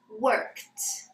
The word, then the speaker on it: worked: So we pronounce the ed ending with a t sound. So it comes up to worked.